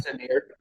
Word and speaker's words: Castanero: Do you know how to say his last name? Castanero.